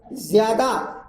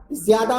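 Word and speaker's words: ज़्यादा: ज्यादा, ज्यादा में नुक्ता है नीचे, जिया होना चाहिए, वो ज्यादा बोलता है।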